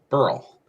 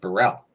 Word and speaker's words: Burell: you use uh Scottish my last name would be Burl instead of Burell got it because it's always hey that's barle over there yeah that's the way it would be pronounced and that's the way my grandmother always said it so all right fair